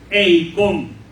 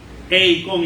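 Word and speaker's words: εἰκών: La palabra imagen usada por Pablo en este texto bíblico es la palabra griega eikon. Eikon, y se escribe con K.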